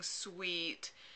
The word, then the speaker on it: suite: bag and the gifting Suite um and the gifting sui which is how you pronounce swe if you pronounced it wrong um and the